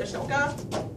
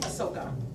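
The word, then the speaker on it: Asoka: she calls ashoka where everyone pronounces it ashoka she pronounces it ahsoka because remember on that sheet how it doesn't have the h so hopefully we get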